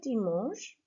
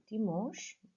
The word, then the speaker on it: dimanche: So you should have underlined this final sound here, dimanche. Okay, the H and E, it's all C-H-E really.